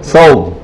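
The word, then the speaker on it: ثوب: সওব না, তব না, সওব, সওব বলা শুরু করেছে। সা উচ্চারণ করা অনারবদের জন্য জটিল, ইন্ডিয়া, বাংলাদেশ, পাকিস্তানের লোকের উপর।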